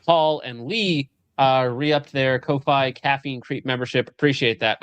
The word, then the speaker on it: Ko-fi: I just call it Ko-Fi. I'm pretty sure you're supposed to pronounce it coffee, but I just call it Ko-Fi.